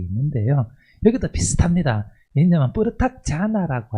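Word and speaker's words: jhāna: 왜냐면 뿌르 자나라고 할 때이 자나라는 말이 그 선할 때 원래 그 간다라의 자나랑 발음이 같거든요. 우리 그 디아나 보통 산스크리트에서는 디아나라고 하는데 팔리어에서는 자나라고 하고요.이 이 간다라에서도 자나 혹은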